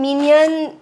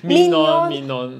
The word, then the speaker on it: Minon: My number one is, drumroll, this pink lady over here, ta-da, which I cannot pronounce the name for the life Minon? Of me. Minon, Minion. No, Minon.